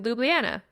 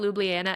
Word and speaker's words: Ljubljana: After Salzburg, you went to Ljubljana.